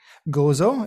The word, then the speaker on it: Gozo: of malta that's correct how do you say it gozo it's g-o-z-o and don't tell anybody